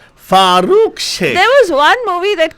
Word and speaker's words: Farooq Sheikh: Farooq Sheikh. There was one movie that came out. That guy's name I used to love. You know why? Why? It used to rhyme with my favorite drink, milkshake.